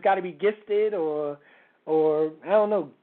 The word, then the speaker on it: Gifted: our special guest is now do you just pronounce it gifted yes gifted a lot of people who see it yeah